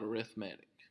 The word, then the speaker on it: arithmetic: learn about arithmetic sequences I know you guys seen this word and probably pronounce it a rithmatic arithmetic but for these sequences we're going to call it a rithmatic have three i cans